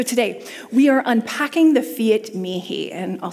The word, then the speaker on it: Fiat mihi: cold days so today we are unpacking the Fiat me he and I'll spell it for you if you're taking notes its